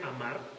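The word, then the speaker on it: אמר: amar amar en hebreo o sea así se pronuncia amar es es la pronunciación de la palabra es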